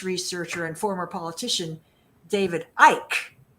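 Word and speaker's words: Icke: the that British researcher and former politician David Ike i ke it looks like iy what it's pronounced Ike Ike David Ike has written volumes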